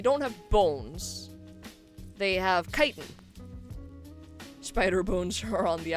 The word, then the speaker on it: chitin: So I've heard it pronounced both chitin and chitin. I haven't actually looked up the pronunciation of it. I pronounce it chitin because that's how I hear it the most.